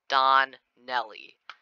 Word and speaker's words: Donnelly: It's not Paul Danelli, it's Paul Donnelly.